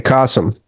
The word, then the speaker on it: Kasim: So, uh, Cassim, am I pronouncing it right? Castim. It's like awesome with a K. Kasum. Kasum.